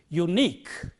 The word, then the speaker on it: unique: The stress is on the last syllable in words like this. So the way of pronouncing it correctly is unique. It is not unique, but it is unique.